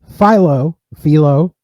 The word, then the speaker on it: Philo: So I believe it is pronounced Philo because I listened to another podcast and they say Philo.